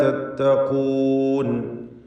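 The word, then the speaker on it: تتقون: അഖൂഹും നൂഹുൻ അലാ തത്തഖൂൻ. നൂഹുൻ എന്ന് പറയുമ്പോൾ തൻവീനും ശേഷം ഹംസയുമാണ്. തൻവീനും ശേഷം ഹംസയും. ഇൽഹാർ ഹൽക്കി നൽകി തൻവീനിനെ മണിക്കാതെ വെളിവാക്കണം. ഹ വ്യക്തമാക്കി ഉച്ചരിക്കണം, സൂചിപ്പിച്ചതാണ്. തത്തഖൂൻ എന്ന് പറയുമ്പോൾ ഖാഫിന് തഫ്ഖീമാണ് എന്നത് ശ്രദ്ധിക്കുക. അലാ തത്തഖൂൻ.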